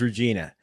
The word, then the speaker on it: Regina: Shields is watching from Regina saskat it's Regina Regina Regina Regina that's how they pronounce watching inside they don't